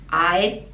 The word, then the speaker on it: I'd: and I'd the pronunciation we don't really pronounce the d but the tongue has to stop at the top of the mouth I'd I'd change I'd change